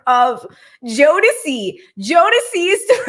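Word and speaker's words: Jodeci: hit at you but the correct pronunciation of um Jo is actually JY it's jod like right here right here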